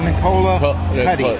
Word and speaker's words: Nicola Cuti: It's pronounced Nicola Cuti.